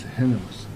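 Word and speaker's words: Hermanus: Correct pronunciation of this place is Hermas.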